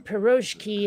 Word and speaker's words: piroshki: it says here okay the stretch in piroshki is on the last syllable uh and it's the